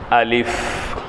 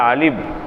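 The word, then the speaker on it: ألف: அலிஃப் அலிஃப் என்று சொல்லும்போது பாதி பேர் அலிப் அலிப் அலிப் என்போம் அலிஃப்ங்கும் போது ரெண்டு உதரும் ஒட்டிரும் அப்படித்தானே அலிப் அப்படி அல்ல அலிஃப் அலிஃப் கடைசியில அந்த ஃபா என்பதனுடைய அந்த உச்சரிப்பு ஆங்கிலத்தில் சொல்வதாக இருந்தால் எஃப்னுடைய உச்சரிப்புல முடியும் அலிஃப் அலிஃப் அலிஃப் அப்போ எழுதிக்கோங்க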